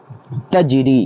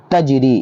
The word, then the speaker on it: تجری: پڑھتے ہیں اس کو تجری۔ کیا لکھا ہوا ہے؟ تجری۔ اس کا ہجے کیسے کریں گے؟ تا جیم زبر تج، را یا زر ری۔ پہلے کیا تھا؟ تج، بعد میں ہوا ری، دونوں کو ملا دیں